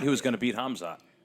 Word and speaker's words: Hamzat: I don't say his name because I can't fucking pronounce it. What is it? Hamzat.